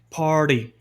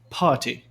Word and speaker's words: party: vira quase um D, party. Isso é complicado de fazer para algumas pessoas, mas no sotaque britânico, esse tem tensões de T e esse R antes de consoante, ele não é pronunciado.